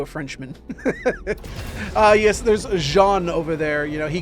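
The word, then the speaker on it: Xi'an: Tech or is a jean I know they pronounce it like Jean in Squadron 42 but I I like calling them xan it just seems more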